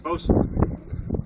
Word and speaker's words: boatswain: Pronounced boatswain.